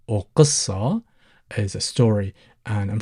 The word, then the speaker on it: قصة: now you know that the letter qaf, sometimes people pronounce it qaf, which is pronounced from the back of your throat, or sometimes people tend to replace it with a glottal stop, as in the first sound in the letter A. Both of them are correct. Sometimes people tend to soften it, and sometimes people go ahead and pronounce it. So whichever you go for is absolutely fine.